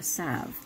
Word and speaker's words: salve: A salve. The L is silent and it's a salve, like when they put ointment on something, right?